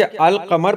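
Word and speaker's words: القمر: जबकि अल-कमर पढ़ेंगे तो इसमें अलिफ और लाम दोनों की आवाज़ें निकलती हैं, अल-कमर।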